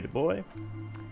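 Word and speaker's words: Du Bois: Whoever told him you're Harry DuBois didn't. Why am I pronouncing it wrong?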